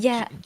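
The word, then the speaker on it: Geanne: spell that g Jean it's like Gan with two n's uh g e a n n e and then if you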